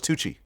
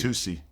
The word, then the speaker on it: tusi: I thought it was Tucci. Is it Tusi or Tucci? Tusi.